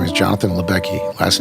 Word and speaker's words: Lubecky: Attorney General United States my name is Jonathan libecki last name is spelled Lu B as in boy ec k